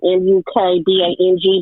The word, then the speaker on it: mukbang: And it's spelled Mukbang, MUKBANG, but it's pronounced Mukbang.